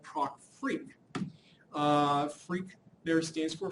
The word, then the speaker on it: FREQ: Um, and so this is pronounced freak as if it was RF f a k. Um, and so I just spel r fq here to be abbreviation of frequency. So product freak again I have some options after it.